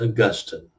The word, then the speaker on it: Augustine: The saint, the early Christian thinker, bishop, and very influential person, his name is pronounced Augustine.